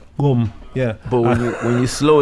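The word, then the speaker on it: Gqom: I think it's called Kum. Yeah. Yeah, you gotta make a strange movement with the tongue, but Kum.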